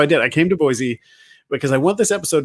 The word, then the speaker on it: Boise: It's not Boise. It's Boise. You make sure you say it with like a C.